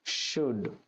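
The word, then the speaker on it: should: next এবার উচিত উচিত শব্দটির জন্য ইংরেজি যে শব্দটি ব্যবহার হয় বা ইংরেজিতে যে শব্দটি লিখা হয় তা হল সুড এস এইচ ও ইউ এলডি সুড সুড এর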